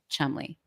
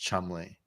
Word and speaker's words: Cholmondeley: Chumley. Marchioness of Cholmondeley, which is But it's pronounced Chumley. Chumley. She's your chum.